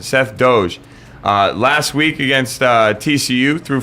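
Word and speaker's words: Doege: Seth Doge, I think that's how you say it. Seth Doge.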